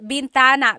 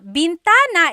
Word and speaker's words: bintana: Uh driving driving said bentana. Bintana is actually window. So salamin is the mirror. Bintana is the window.